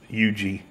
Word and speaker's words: Huger: they got a beer called ug Street spelled hu ger tell me how that's Yugi but that's South Carolina